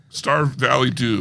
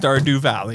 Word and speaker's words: Stardew Valley: Starved Valley Do. No, I think it's pronounced Stardew Valley.